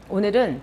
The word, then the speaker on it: ho: 오늘은 주어 공부하셨나요? 이오, 뚜, 루이, 레이, 노이, 보이, 로로. 그죠? 그 주어에서 아베레 동사로 갈 건데요. 아베레가 오라고 그랬어요. 오, have. 그래서 HO가 되지만 발음은 O예요. 그래서 이오, 오, 자막 처리 되겠죠?